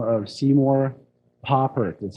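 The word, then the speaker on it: Papert: So our story starts with a gentleman by the name of Seymour Poppert. That's how you pronounce his last name.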